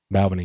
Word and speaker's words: Balvenie: Is that how you pronounce it? Balvenie.